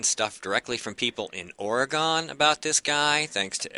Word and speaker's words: Oregon: Oregon. Say it right. Like Bangor, Maine, Oregon.